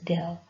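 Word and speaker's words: ∂: basically let the d we can just pronounce it as del okay so del 2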